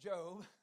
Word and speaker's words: Job: He said Job. I would remind him it's pronounced Job, and it's in the Old Testament, which proves he'd never opened the thing.